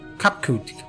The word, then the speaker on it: Kapkut: As for nomenclature to address my individual person, I believe it would be pronounced Kapkukt. Kapkut. Yes, Kapkut of the Ea.